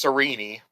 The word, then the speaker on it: Sarene: Starts off Princess Sarene. It's Serene? I was yes. doing Serene this whole time.